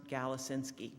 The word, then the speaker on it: Galasinski: a an ending in an i and it's pronounced galacinsky and he does prefer to be called james